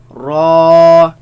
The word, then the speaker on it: ر: Lam, Noon, Ra, Raise the back of the tongue. Make it heavy. Ra, Ra.